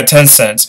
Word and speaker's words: Tencent: Pronounce it. Yeah, it's like Tencent. Yeah, Tencent.